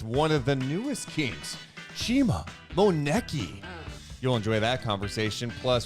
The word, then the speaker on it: Chima Moneke: Chima Moneke.